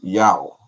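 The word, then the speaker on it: Yaw: sea scrolls to back it up and the pronunciation of these greek letters is yao yao y-a-w and you see that in ghana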